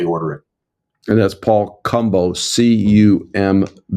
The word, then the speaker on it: Cumbo: And that's Paul Cumbo, Cumbo. Rhymes with Dumbo, like the elephant.